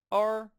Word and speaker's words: 二: This is how 2 is pronounced in Chinese. 二 R, R, R.